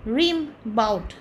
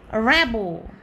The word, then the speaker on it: Rimbaud: আতু আতু ঠিক আছে র‍্যাবো র‍্যাবো এরকম হবে আর ওটা ভূতের ভাষা